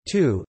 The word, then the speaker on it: 荼: The Chinese character for tea is cha, originally written with an extra stroke as tu, pronounced tu, used as a word for a bitter herb, and acquired its current form during the Tang Dynasty.